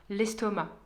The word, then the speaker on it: l'estomac: réponse et la D il y a un C qui ne se prononce pas l'estomac Thomas a fait ses